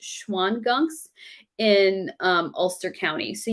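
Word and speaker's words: Shawangunk: the schwann gunk mountains it's weird it's pronounced it's spelled shao and gunk if you want to look it up but i think it's pronounced schwann gunk um has some sort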